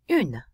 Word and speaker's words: une: There's an E on the end of this one, which tells us that that N sound can be pronounced. It can pop. We have une.